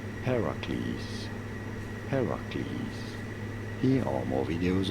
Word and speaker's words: Heracles: Heracles. You do want to stress on the first syllable, the H syllable. Heracles.